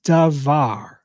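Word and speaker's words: דבר: is is um is dvar and so that that um B if it doesn't have that dot in the middle it's it's um it's pronounced like V but they'll say it's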